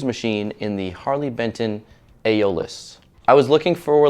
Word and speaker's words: Aeolus: made guitar but looking at the Harley Benton aeolus thing that's how you pronounce it this thing's got a fantastic finish